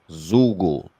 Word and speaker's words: Bandzoogle: Zoogle, Zugu, spelled like Google, but with a Zugu, Z.